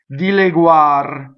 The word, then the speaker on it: dileguar: Dileguar. So the accent is on guar. So unstressed E is going to be A. Dileguar.